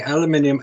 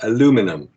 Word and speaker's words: aluminum: As he says here, as far as I can ascertain, the aluminium alloy used for the EVA handles was 2024-TT3510 aluminium, or aluminum, as Americans pronounce it, whose melting point is 1,180 degrees Fahrenheit.